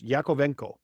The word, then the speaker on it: Yakovenko: here, I was trying to make sure I pronounced your last name right. I'm going to try it again. It's Yakovveno. Perfect. Yeah, I see. It's as good as I Yakovveno.